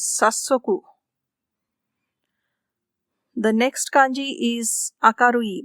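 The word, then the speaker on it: 早速: It also has the same kunyomi hayai, but with sa, its first syllable becomes stressed. So the word is sasoku.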